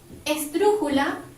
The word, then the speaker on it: esdrújula: Esdrújula, última, penúltima, antepenúltima, se carga la voz sobre la U, por lo tanto también lleva tilde.